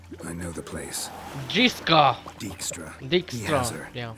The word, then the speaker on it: Dijkstra: They are not saying the J. It's just Dix.